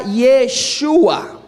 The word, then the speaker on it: Yeshua: Y en el inglés antiguo la J se pronuncia como nosotros pronunciamos la Y, ¿ok? Entonces note que ahí está Yeshua. No dice Yahshua, Yeshua. ¿Cuántos lo pueden ver?